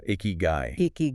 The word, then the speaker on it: ikigai: And honestly, for a lot of people, it's not immediately obvious, but in Japan, this idea of eeky guy is pronounced uh icky guy.